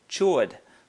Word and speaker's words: chord: A chord, okay, spelled like chord, but a chord, just like on a guitar or a piano, is a line segment